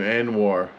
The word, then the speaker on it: Anuar: Anuar.